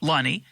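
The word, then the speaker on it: Lunny: key player which is Kevin how do you pronounce his name Lonnie Lonnie so the Lonnie's own this farm they renamed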